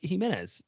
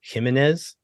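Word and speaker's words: Jiménez: pronounce this last name gimenez and that is entirely incorrect there's no situation where that is correct the accent is on the second syllable and I like I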